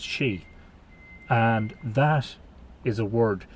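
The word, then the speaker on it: sídhe: Now, if you go back to the literature and the mythology refers to those sites as she, which is an old Irish word, S-I-D fada, H-E, pronounced she, and that is a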